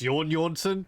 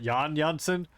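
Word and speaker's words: Jan Jansen: mention in the manual that his name is pronounced John uh so it's yawn Johnson not Jan Johnson I'm gonna be terrible at probably continue pronouncing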